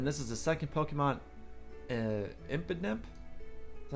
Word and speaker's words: Impidimp: And then this is the second Pokemon, Impidimp. Is that how you say its name? Yeah, Impidimp.